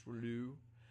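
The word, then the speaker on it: rouleaux: the capacity what about alfonso all right so pronunciation is fine as well it's actually relu formation thank you so much this is known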